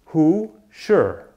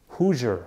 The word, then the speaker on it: Hoosier: Indiana called Hoosier Hoosier how do you say this word whoo sure Hoosier Hoosier together Hoosier and what